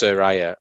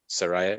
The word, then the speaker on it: Saraya: Like she said it's pronounced Saraya, and someone said it's actually Saraya.